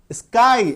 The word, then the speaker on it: sky: दीर्घ ईकार, बड़ी ईकार जैसा साउंड करेगा, जैसे कि स्काई, SKY, है ना। अब ये देखिए लास्ट में क्या आ रहा है, वाई, स्काई, एक सिलेबल है स्काई, ठीक है, तो लास्ट में क्या आ रहा है, बड़ी ईकार, बड़ी ईकार, दीर्घ ईकार, स्काई, आकाश, है ना।